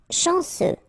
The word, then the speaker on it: chanceux: Chanceux, final X not pronounced. This CEU, ce, chanceux, chanceux.